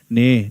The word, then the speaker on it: nee: Nee. Nee is referring to no. It's another way. So you can also say, you see Germans using nein. Nee. You call it nee. Different way to pronounce.